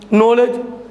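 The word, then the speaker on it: knowledge: नॉलेज, K क्या रख दो, साइलेंट क्यों रख दो, कुछ नहीं।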